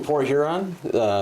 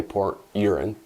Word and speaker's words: Port Huron: So I'm from Port Huron, so I gotta be careful how you pronounce that, I should say, because those of us in Port Huron often will say Port Urine.